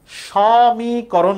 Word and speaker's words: সমীকরণ: সমীকরণ বলি? সমীকরণ বলি। দেখতেছি তো স দন্তস লেখা। এই যে দন্তস একটা অ আছে। এ এর উচ্চারণটা কি অ এর মত হবে?